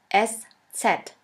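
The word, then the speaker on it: ß: this we call it s set s set or shafus s shafis s which means a sharp s this letter is pronounced like the double s in the word kiss and always remember this letter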